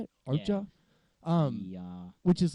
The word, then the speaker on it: Okja: Okja.